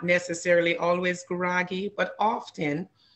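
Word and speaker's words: Gurage: And the Guragi, that's spelled, it looks like garage, but it's actually G-U-R-A-G-E, Guragi.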